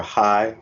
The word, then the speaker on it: CHAI: and chief operating officer for high which is spelled chai and that's acronym stands